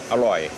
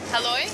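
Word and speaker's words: อร่อย: Aroi. Aloy? Mhm. Aroi.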